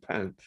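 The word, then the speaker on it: Panth: today called the Dadu pant that's p-a-n-t-h I'd better just say in uh Indian languages Tiffany North India the when we say th uh the H is silent so it's 10th but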